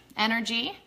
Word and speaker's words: En-R-Gee: If you guys haven't tried this, it's spelled funny. It's EN-R-GEE, Energy.